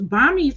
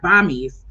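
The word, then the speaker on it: bammies: i discover and i'm saying it wrong it's bombings and they spelled it differently too they spelt it b-a-m-m-i-e-s like bombies yeah anyways we just said this singular oh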